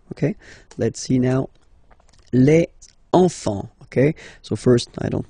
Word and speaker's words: enfant: Don't pronounce the T. You don't pronounce the S.